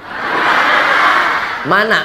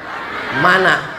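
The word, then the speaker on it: Manna: nih Man mana Man Saya bertanya karena saya tengok tulisannya mana tapi cara bacanya Man mana Ah ini jadi macam-macam bahasa Inggris juga dia onone dibaca Wan Mana tulisannya tapi dibaca mana mana mudah-mudahan bapak ibu semua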